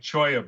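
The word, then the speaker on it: cholla: So then you take something like choya buds, which is spelled CHOA, Choalla.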